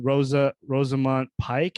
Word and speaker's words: Rosamund Pike: It starts with Rosamund Pike. Is that how to say her name? Pike, yeah.